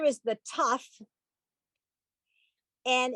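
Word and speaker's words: ת: This letter is the tough. And in both cases, whether there is a dot or there isn't a dot, it's pronounced like a T.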